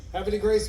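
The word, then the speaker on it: Havre de Grace: How do you say it? No, I'm Baltimore. Happy Grace. Happy Grace, Maryland. That's how you say it, huh? Happy Grace, Washington.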